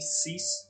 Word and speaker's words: Cease: you say his name um kyle kyle c cease c-e-a-s-e so once you start in this awakening